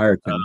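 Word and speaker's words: Ireton: say that, Will Ayrton, is that how you pronounce his name? Yeah, Ayrton, yeah.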